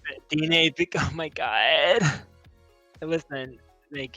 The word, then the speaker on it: Diné: We're supporting the Utah Diné, I'm sorry if I butchered it. Diné, oh my god. Listen, thank you. Okay, Diné, Bikéyah.